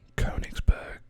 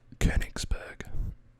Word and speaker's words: Königsberg: Yes, so you would think that this is pronounced Königsberg or Königsberg, but because of the umlaut, it's pronounced Königsberg.